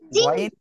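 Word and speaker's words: غين: এর থেকে উচ্চারিত হবে গাইন কোন জায়গা থেকে উচ্চারণ হবে গাইন গাইন হলো হলক বা গলার শেষ ভাগ থেকে ঠিক আছে ওকে সবাই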